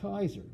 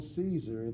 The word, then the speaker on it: Caesar: nice M so therefore the Romans didn't say Hail Caesar they said hail Kaiser and then the Germans